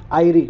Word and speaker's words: Eyre: तो लेक आयरी, वो लोग लेक ईरी थी, याद रखना। जो 5 ग्रेट लेक्स थी यूएसए वाली, वो लेक ईरी है, ये लेक आयरी है, EYRE।